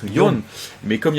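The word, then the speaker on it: 四: Et le pire c'est que j'avais le 4 en japonais qui se prononce Yon, mais comme il y avait à peu près 40 personnes.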